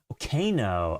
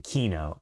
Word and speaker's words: Kino: Kano, okay. Kano, or no, excuse me, Kino, as in like an actual key that you put in a door.